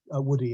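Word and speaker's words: Woodhey: The Wilbrahams, though, also at their Cheshire estate decided that the house at Woodhay, or Woody as it's pronounced, would also be rebuilt.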